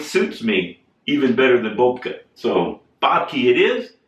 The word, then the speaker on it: Bobke: I tried to correct everybody that said hey Bob key and I would say no it's actually Boca but then I would have to go into